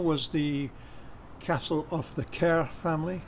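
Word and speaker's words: Kerr: the castle of the cair family k-e-r-r which is how it's pronounced not car uh sorry it's a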